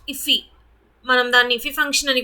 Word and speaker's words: IIFE: అలాగే immediately invoked function expression వచ్చేసి an immediately invoked function expression or iffy function, pronounced iffy, మనం దాన్ని ఇఫీ function అని కూడా పిలవచ్చు, ఈజ్ a function that ఈస్ called immediately after it ఈస్ defined.